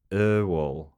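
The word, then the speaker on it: Öwall: The first letter is my last name, bracket the O with the dots, is pronounced like a U in the word burn. Owall.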